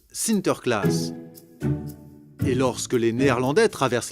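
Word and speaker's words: Sinterklaas: aux enfants aux pays bas saint nicolas se prononcent sinter klaas et lorsque les néerlandais traverse l'atlantique au xviie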